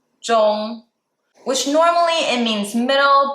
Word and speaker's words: 中: 中 is the first tone. 中, which normally it means middle, but in this case, it's a simplified way to say Chinese.